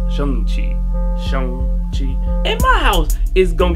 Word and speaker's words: Shang-Chi: seeing that shame cheese chocolate ray is actually pronounced seong chi why shane yo talking about the dog yeah